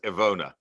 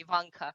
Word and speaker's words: Ivona: was just checking that i pronounced your name right as ivona uh yes yes that's that's uh quite good um i've heard a lot of different pronunciations the worst one was probably ivanka so you're doing very good